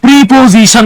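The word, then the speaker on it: preposition: বলতে পারবেন এই যে প্রেপোজিশন যে শব্দটা হ্যাঁ এটা আমরা অনেকে প্রিপজিশন বলি উচ্চারণ হচ্ছে প্রেপোজিশন আপনারা আমাকে বলবেন এই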